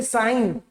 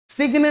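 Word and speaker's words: sign: जी को भूल जाओ जी एन साथ में मतलब जी को भूल जाओ पूरी तरह से जैसे साइन सिग्ने नहीं पड़ते सिग्ने नहीं पड़ते जी गायब ग गायब हो गया साइन डिज़ाइन में जी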